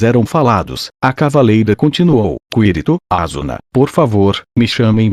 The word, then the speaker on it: Kirito: Sua entonação estava ligeiramente errada, então eu repeti. Kirito.